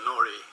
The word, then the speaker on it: nori: I have done a little research since hearing that this was on, and the one that I'm going to try rhymes with Rory, Nori, in fact, if that's the right way to pronounce it.